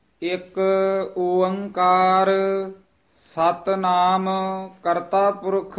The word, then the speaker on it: ओंकार: पहला उच्चारण करना है एक, फिर बोलना है ओंकार।